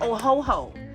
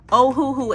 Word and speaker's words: Ohuhu: markers now mind you I used to call them oh ho ho um I don't know how I came up with oh ho ho but I just could not figure out how to say it but they it is ohoooo and this Marker set